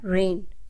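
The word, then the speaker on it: reign: इसमें जी साइलेंट है रेन इसमें भी जी साइलेंट लैम इसमें भी बी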